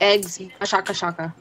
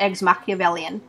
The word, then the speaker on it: Eggs Machiavellian: I just call it eggs Macha-Shacka-Shacka. Yeah, it's actually pronounced eggs Machiavellian.